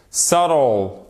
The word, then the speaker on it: subtle: Subtle. Le B, on ne le prononce pas, même à l'intérieur des mots.